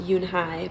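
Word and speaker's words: Unhei: and i was pronouncing it wrong um it's pronounced yoon hai but i was calling it and it just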